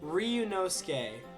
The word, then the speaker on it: Ryunosuke: Oh, I forgot how to pronounce it. Is it... Ryunosuke.